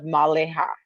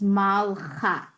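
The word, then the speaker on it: מַלְכָּה: It's malcha. Okay. Right, that is So correct. to remember to not to pronounce it in the middle as maleha, Right. just malha.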